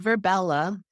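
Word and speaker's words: Virbella: Verbella. It's spelled V as in Victor, I, R as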